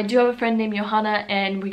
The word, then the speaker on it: Johanna: The first name that I have is Johanna. And Johanna has been a fairly common name here in Germany for girls. In America, it's not really common, and it wouldn't be pronounced Johanna, it would be Joanna.